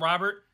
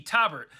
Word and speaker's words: Tobert: and I called him Robert. But no, it's Robert with a T, Tobert.